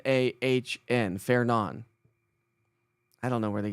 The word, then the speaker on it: Fernand: it was Fernando or Ferdinand. I thought it was Ferdinand. It's not Ferdinand or Ferdinand. It's Fairnon. F A I R N Ahn. Fairnon.